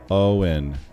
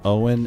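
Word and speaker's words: Óin: Lord of the Rings Owen and glowen with two symbols so o oh so it's not o and gloin it's Owen and gloen they are not pronounced to rhyme with coin okay so it's it's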